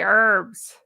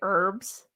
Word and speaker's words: herbs: Oh, my husband laughs at how I say herbs. All right, I know we've talked about this. Americans say herbs because we do. And I guess my lovely British geese say herbs.